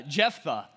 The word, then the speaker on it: Jephthah: read a story of a guy named jeffeth i think that's how you say his name i don't know i called him japheth for the entirety of my life up until i started studying this so uh jephthah is this guy's name and we're gonna be